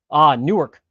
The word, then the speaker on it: Newark: Or if you're from Newark or from Licking County, it's Newark, Ohio. Newark, Ohio, it would be correctly pronounced.